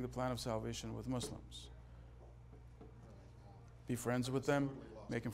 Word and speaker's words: Muslim: contribute to your sensitivity the pronunciation is not Muslim its Muslim it's s it's s why do I say this Muslim means tyrant in Arabic Muslim means the one who has surrendered submitted okay so train yourself to pronounce it with an S which shows sensitivity on